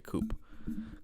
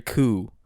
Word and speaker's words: coup: that's how pronounced it I don't think the p is um pronounced yeah yeah military coup yeah I don't know